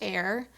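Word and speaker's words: AYR: made in La denim it's spelled a yr pronounced air and it stands for all year round and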